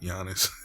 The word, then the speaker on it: Giannis: name but giannis yeah i keep saying goddess but giannis which will all be